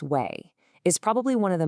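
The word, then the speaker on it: 囗: This part, pronounced way, is probably one of the most straightforward pieces in all of Chinese.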